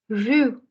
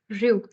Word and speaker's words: rue: Rue, rue. So R again comes from the throat, but if you're not able to pronounce it just exactly, कोई बात नहीं. अभी के लिए you can try with rue.